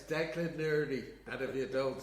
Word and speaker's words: Declan Nurney: It's Declan Nurney, and if you don't say it right, you're in trouble. I call him Declan Nurney, which kind of upsets Frank a little bit.